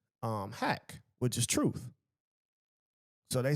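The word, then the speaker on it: haqq: faith they say um hack which is truth. So they say which is spelled h a QQ in in the way that you would look at it and see it but it means hack.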